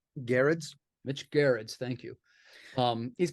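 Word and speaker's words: Gerads: And let's make sure I'm pronouncing his last name correctly. Mitch Gerards? Garrett's.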